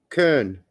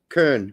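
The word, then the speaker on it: Köln: But with the umlaut has a ER-ish sound. Kern. Kern. To me, that's not an R sound. It's a rolling L. Kern.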